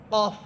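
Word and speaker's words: قاف: ফা এরপরে হরফ কফ কফ হচ্ছে জিহ্বার গোড়া উপরে তালুর সাথে লাগবে কফ যত ভিতর থেকে যত একবারে গোড়া থেকে বলতে পারেন কফ কফ দেখেন আমার সাউন্ডটা কেমন যেন আপনার ধাক্কা দিয়ে বের হইতেছে কফ কফ এবং কফ এটা মোটা হরফ।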